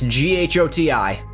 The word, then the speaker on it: Ghoti: It's Ghoti, like in my username. That's how you spell fish. You're saying it out loud correctly when you say fish, but it's spelled Ghoti.